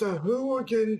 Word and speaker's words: Sahuagin: It's pronounced Sahuagin, Coral.